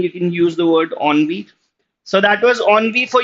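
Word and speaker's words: ennui: It is pronounced onvi because of course it's a French term.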